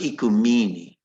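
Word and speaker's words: οἰκουμένη: And it's pronounced Ikumene, even though it doesn't look like it is, okay?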